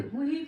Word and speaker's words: Jujuy: উচ্চারণটা হলো হুই, আর স্পেল করতে গেলে JUJUY। মানে যে স্প্যানিশে এইচ উচ্চারণ হয় ও আচ্ছা মেবি।